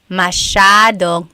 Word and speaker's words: masyadong: Masyadong means a lot. So the S-Y-A is a sha sound.